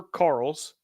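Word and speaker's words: Karels: benched according to uh Carter Carl's who um Carter Carl's Carter but it's spelled k-a-r-e-l-s that doesn't change much for me he was at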